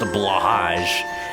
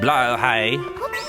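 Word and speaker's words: Blåhaj: Fun fact, the blahage from IKEA is not pronounced blahage. It's pronounced blowhai. Not blowhigh, even though that's what you might think from watching those videos. It's specifically the sound of the aw in caught, but only if you're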